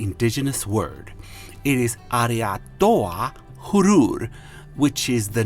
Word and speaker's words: Huron: And Huron is not pronunciated as Huron. It's Hurur.